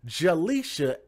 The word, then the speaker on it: Jalicia: Her real name is Jalisha.